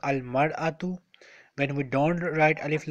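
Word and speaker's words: المرأة: The singular form of this yes when we add alif lam it will be pronounced al mar'atu when we don't write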